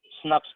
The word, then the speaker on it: snRNPs: ठीक है, स्नप्स पर प्रोनाउंस करते हैं इसको।